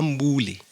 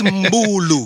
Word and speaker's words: Mbulu: You find presenter Leta Mbuli. Yeah, I know. No, it's Mbulu.